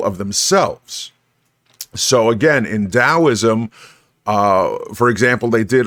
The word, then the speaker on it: Taoism: in it and a lot of people uh pronounce it as taoism but it's taoism okay so uh taoism and lao zoo's uh